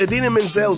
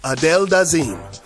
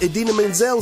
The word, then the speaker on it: Idina Menzel: Kadim e awards show he mispronounced idina menzel name as she was about to perform her hit song let it go from the movie frozen but he didn't just miss pronounce the name he completely changed it hilariously he called her the wickedly talented one and only adele dazeem of course everyone went